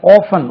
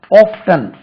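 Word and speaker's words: often: என் G listening listening இதே மாதிரி ஆபன் ஓ எப் டி இன் ஆபன் என்ற ஒரு வார்த்தை இருக்கு அல்லவா நாங்க எல்லாம் படிக்கும்போது இது ஆபன் இப்படித்தான் படிச்சோம் இப்போ கிட்டத்தட்ட ஒரு 15 இயர்ஸ் ஆகவே இங்கிலாந்துல ஆஃப்டன் ஆஃப்டன் என்றும் உச்சரிக்கப்படுகிறது ரெண்டுமே correct ஆஃப்டன் I told him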